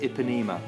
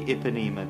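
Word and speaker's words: Ipanema: this stunning dress the epinema i think it's pronounced iponema i could be wrong but i think it's the iponema dress iponema is a famous beach i hope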